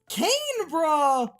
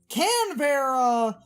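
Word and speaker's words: Canberra: and I reiterate this it's canra or can Vera because if you're pronouncing getting a more American Eng English Cana is correct or if you're pronouncing it how Australians do it's can ver so I just keep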